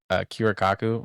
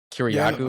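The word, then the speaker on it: Kiriakou: thing, y'all know John Kira Kiraaku or Damn, I I butchered that last name. Kiryaku, I know you're talking about white dude.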